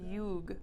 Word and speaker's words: юг: So, юг.